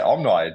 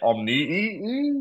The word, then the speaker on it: Omni: How do you say this one? I say omni. Do you guys say omni or some other weird?